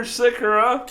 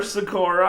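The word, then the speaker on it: Sýkora: And with just under 8 minutes to go, Peter Sikura or Sakura I we called him Sakura last year. I think they switched his pronunciation to Sikura on TSN because he requested not to have the same pronunciation as the famous Peter Sakura.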